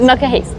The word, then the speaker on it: Knokke-Heist: Knokke-Heist. Yeah. Knokke-Heist. I might have pronounced it wrong earlier in the video or in the Shmuseum 50 video.